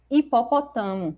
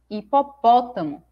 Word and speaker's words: hipopótamo: a pronúncia correta é hipopótamo porque o acento tá me mostrando qual é a sílaba tônica e agora próxima palavra